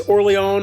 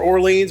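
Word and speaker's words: Orléans: This is Orleans or Orleans, whichever way you want to pronounce it.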